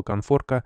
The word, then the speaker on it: конфорка: вам надо понять что слово конфорка произносится и пишется с н а не см сказала преподаватель на своем